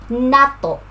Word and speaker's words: nato: Pronunciation, Nato. So stress on the first syllable, Nato.